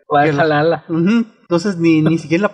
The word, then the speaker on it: Valhalla: atención es de que les cuesta mucho trabajo decir Valhalla. Lo pronuncian en algunos episodios, dicen Waruwara, el palacio de Valaya, el. Valhalla.